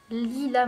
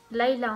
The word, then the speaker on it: Lila: Lila, madame. Ça se prononce Laila en fait.